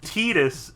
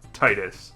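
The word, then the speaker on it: Tidus: still isn't aware, somehow, Tetus is how you say it, not Titus. His name is based on the Okanowan word for son, Teta.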